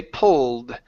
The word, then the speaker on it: pulled: Instead of pulled, the e is silent and we say pulled.